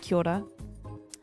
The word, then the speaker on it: Kia ora: Yeah, it's like Kia order, but it's pronounced Kia ora.